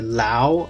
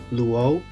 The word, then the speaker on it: Luo: One way that I find that can help you pronounce my last name correctly is first you pronounce L-U as Lu, and then you put the O sound at the end, so it becomes Luo, and you smoothen it becomes Luo.